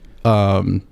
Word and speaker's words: Garion: Garion is how you pronounce your name, right? Yes. Okay, got it. Because my dad's name's Marion, and it's it's spelled the same, just with an M instead of a G.